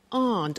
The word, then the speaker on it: aren't: they aren't cheap so the difficulty here is the pronunciation of our not which is Aunt okay art good so